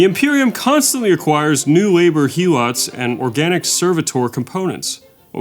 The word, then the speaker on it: helot: The Imperium constantly acquires new labor helots and organic servitor components. What was that previous word? Did I say that right? Helots?